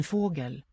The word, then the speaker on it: fågel: En fågel. So here we have the contrast. Fågel. We have a higher tone on the first syllable with a down step.